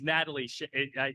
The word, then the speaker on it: Nataleigh: It's Nataleigh.